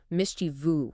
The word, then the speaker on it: mischievous: We broke down some tricky pronunciation like mischievous. Yes, only three syllables.